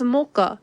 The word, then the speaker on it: Mocha: Yes, I think it was Rice who was like, "This is mocha. This is how you say it. It's like the coffee."